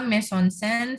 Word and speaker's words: mise en scène: Ya, Ini pronunciation-nya mise en scène, French theatrical term meaning, jadi dari bahasa teater, placing on stage, or we can simply state it as staging.